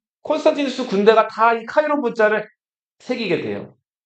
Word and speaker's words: 카이로: 그리스에서는 X를 X라고 안 읽고 카이라고 읽어요. 뭐라고 읽는다고요? P를 로라고 읽어요. 자,요 문자 요거 로마 교황청에도 요게 자랑하는 문자거든요. 자,요 x랑 p를 겹쳐 놓은요 문자를 무슨 문자라고 한다? 카이. 카이로 문자라. 카이로. 그건 이집트 수도고.